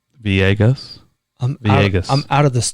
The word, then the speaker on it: Villegas: It is Villegas. It is spelled Villegas, 2 L's, pronounced Villegas. Villegas.